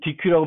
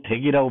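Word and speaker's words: deque: 구현한다는 것이고 DQ를 가보면 DQ는 DQ라고 발음하지 않고 덱이라고 발음하는데 어쨌든 이 덱은 어떻게 만들어지냐면 std 벡터하고는 조금 다르게 만들어져 있어요.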